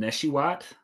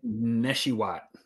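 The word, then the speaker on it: Nesheiwat: Neshiwat. Neshiwa. Neswat. I don't know. I think the T is silent. You got to get that Wah in there.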